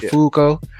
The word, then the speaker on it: Fuko: uh her name is Fuko is Zumo yes fuk but it's like a it's like a long it's like they pronounce the U long so like Fuko but Fuko AKA unluck we can